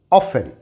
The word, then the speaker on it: often: And this is often, often. When W is silent, जब W silent हो तो यहाँ एग्जाम्पल देखें।